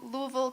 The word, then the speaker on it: Louisville: Montezuma Cortes High School um I went to Louisville Kentucky yes that is how you pronounce it to study spinal cord injury research